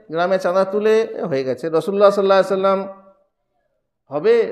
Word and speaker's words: রাসূলুল্লাহ: কিন্তু যখন আরবি উচ্চারণটা করবেন, আরবি যখন ইবারত পড়বেন, তখন রসুলুল্লাহ বললে হবে না, তখন বলতে হবে রাসূলুল্লাহ।